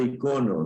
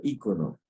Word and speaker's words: icono: Se dice icono, no se dice ícono. Es icono. Aunque, bueno, la Real Academia de la Lengua ha puesto que ya se puede decir de las dos maneras, pero la palabra correcta normalmente es icono.